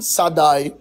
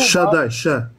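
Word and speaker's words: שדי: Das Wort Gott Elohim, das Wort Allmächtig, steht im Hebräischen Sadai. Das Wort Herr in Hebräischen Jehova. Shaddai, Shaddai, ich habe es falsch ausgesprochen. Shaddai, gut.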